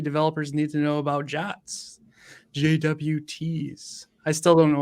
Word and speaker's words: JWT: then what PHP developers need to know about Jats JWTs. I still don't know why we pronounce it that way, but that's fine.